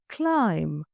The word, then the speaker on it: climb: The word climb, climbing the corporate ladder.